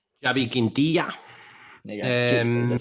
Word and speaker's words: Xavi Quintilla: Hodge, do you want to go for the full Spanish pronunciation? Xavi Quintilla.